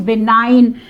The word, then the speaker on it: benign: Here N is silent, and then benign. In this word, letter G is silent.